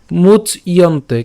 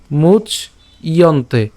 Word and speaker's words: মুচ্যন্তে: তাহলে অনসূয়ন্ত, শ্রদ্ধাবন্ত অনসূয়ন্ত মুচ ইয়ন্তে। কেন, এই যে জফলা আছে, তাহলে উচ্চারণটা কেমন করব, মুচ, মুচ ইয়ন্তে, মুচ ইয়ন্তে, একসাথে মুচ